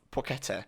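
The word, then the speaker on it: Płacheta: right now saying or suggesting how to pronounce the name which is chemin suave porchetta so for the rest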